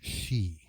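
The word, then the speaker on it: sidhe: same name obviously s-i-d-h-e which looks like city is pronounced she and so the original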